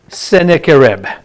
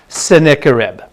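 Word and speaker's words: Sennacherib: one the invasion of seneca reb that's how you say it seneca reb don't bother for the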